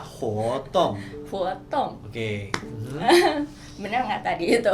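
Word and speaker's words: 活动: Nah, kegiatan di bahasa Mandarin itu kita bacanya hotong. Sekali lagi ya, hotong.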